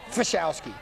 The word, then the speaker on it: Pachowski: Fashowski. It starts with a P. They pronounce it with an F.